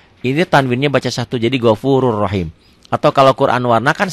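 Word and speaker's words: غَفُورٌ رَحِيمٌ: tanwinnya baca satu jadi gofurur rahim. Atau kalau Quran warna kan satu oranye, satu hitam. Jadi yang oranye nggak dibaca, yang dibacanya hitam. Gopurun rahim dibacanya jadi gofurur rahim.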